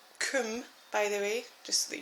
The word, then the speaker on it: KUM: up is this k m sharpener um it's pronounced Kum by the way just so that you know